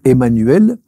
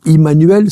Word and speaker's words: Emmanuel: eu l'occasion de nommer ce Emmanuel ou Immanuel ça dépend la prononciation qui est finalement ce